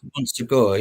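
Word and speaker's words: Montségur: Matsur Monsur.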